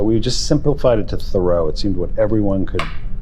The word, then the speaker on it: Theroux: We pronounce it thorough. Because in the Washington DC public school system, they would call me theuks or they would never say thoru. So we just simplified it to thorough.